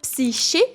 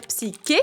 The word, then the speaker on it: Psyché: On peut dire soit psyché, ce qui équivaut à la prononciation française, mais j'avoue que je suis pas fan. Et on peut aussi dire psyqué, ce qui se rapproche de la prononciation grecque de son prénom.